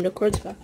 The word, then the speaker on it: Necrozma: Now we know how to say his name, Necrozma.